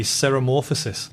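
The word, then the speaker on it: ceremorphosis: It's actually called, spelled with a C, seromorphosis, like C-E-R-E morphosis.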